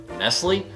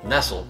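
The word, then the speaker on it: Nestlé: know, we've established that my mom had instilled in me my entire life the wrong way to pronounce the word Nestle. I was brought up with it being called Nestle, and just... The one episode that we did on here, and I called it Real.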